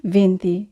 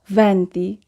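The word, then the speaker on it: venti: হবে চদ্বিচত্ত দ্বিচ্য হবে ভ্যন্তি আমরা অনেক সময় উচ্চারণ করে থাকি ভেন্তি এটি আসলে ভুল উচ্চারণ আমরা উচ্চারণ করব ভ্যন্তি ভন্তন অনেকেই 21 কে উচ্চারণ করে ভেন্তিউন আসলে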